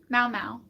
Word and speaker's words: Mau Mau: It's spelled like the cat name. It's the sound a cat makes. Mau Mau.